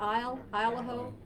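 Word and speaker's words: Isle au Haut: Not Eel, but Isle-a-Ho.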